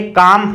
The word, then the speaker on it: calm: इसी प्रकार से काम है, कालम नहीं है, काम, CALM काम।